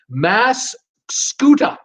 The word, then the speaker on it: Mascoutah: Sherry, the town in Illinois is Mascoutah. Mascoutah. That's how it's set. How you pronounce it?